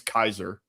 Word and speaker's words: Caesar: It's really pronounc Well, the the the actual Latin pronunciation is Kaiser.